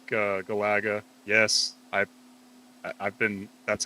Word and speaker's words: Galaga: It felt like Galaga. Yes, I've been. That's how I pronounce it. I've always said it like that. People always get in my ass about how I pronounce that. Galaga.